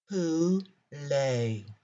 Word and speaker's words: poulet: Our easy French word for today is poulet. How do you say chicken in French? Poulet. Phonetically spelled P-O-O-lay.